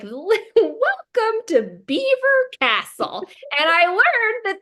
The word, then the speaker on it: Belvoir: being like, welcome to Beaver Castle. And I learned that this word that in my mind was pronounced Belvoir's that they pronounce it beaver.